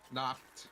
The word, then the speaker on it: Nacht: Futuristic, it's packed spelled like Nact. You just replace the N with a P, and it's packed. Nacht.